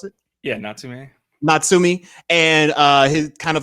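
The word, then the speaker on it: Natsume: Is that how you pronounce it? Yeah, Natsumi.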